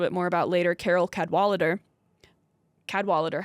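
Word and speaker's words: Cadwalladr: Like, for an example given by a journalist who we'll talk a little bit more about later, Carol Cadwalader. Cadwalader, how do you spell it?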